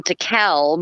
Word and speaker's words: DeKalb: And it was just hilarious to me that they wanted to punish him because he pronounced it as DeKalb, because there's an L in there.